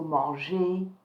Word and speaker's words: manger: So remember, in last lesson we looked at verb who were ending in ER and that ER was sounding like A. So manger, to eat.